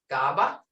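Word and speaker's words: kapv: Creek, K is unaspirated. G is unaspirated. Sounded to English speakers, it was almost halfway between G and kit and G and goat. Listen, GABA. Hear it? GABA.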